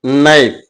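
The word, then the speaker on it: knife: கத்தி, நைஃப். இதுல K silent letter.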